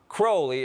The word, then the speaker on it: Crowley: In his own writings, he said it's pronounced Crowley, it rhymes with holy.